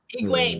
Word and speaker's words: Egwene: Egwene, yeah, that's her name. That's why I can't pronounce it, because it's definitely different.